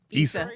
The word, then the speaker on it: Issa Rae: Pronounce her name? Issa Rae.